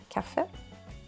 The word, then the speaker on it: kaffe: We call it kaffe. Not so far from your English coffee.